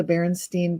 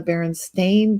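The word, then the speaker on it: Berenstain: only ever been the baron stain bears like they ate too many blackberries and their paws got stained with berry juice very funny and and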